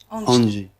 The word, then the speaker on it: Angie: Un peu comme la chanson des Rolling Stones, elle a pris ce prénom, mais c'est pas Angie qu'il faut prononcer, c'est Angie. Voilà, tout à fait. C'est à la créole.